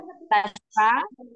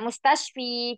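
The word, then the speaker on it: مستشفى: Nah, mustashfa ya mustashfa di sini dia tidak mustashfi karena di sini ada alif maksuroh ya. Maka kasrohnya itu muqaddarah.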